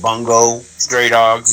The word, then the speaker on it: Bungo Stray Dogs: It's actually pronounced Bungo Stray Dogs, Bungo.